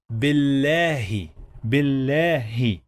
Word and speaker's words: بالله: Someone would ask me, but we pronounce two lams because we say bil. That's because we have shadda here. Bil. When we have shadda, we pronounce the letter two times.